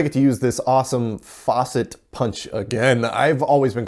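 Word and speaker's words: Facit: to use this awesome faucet punch again I've always been calling it facet but you guys let me know that it's pronounced with a long a anyways I load up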